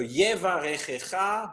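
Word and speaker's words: יברכך: So the first word has two of these vowels in, and in both cases you pronounce them. Sometimes we don't pronounce these vowels, but in this case we pronounce them. So please pronounce these. Yevarechecha.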